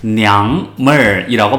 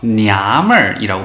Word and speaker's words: 娘们儿: 하지만 냥물이라고 발음을 하지 않고요. 냐물이라고 발음합니다. ng가 생략이 됩니다.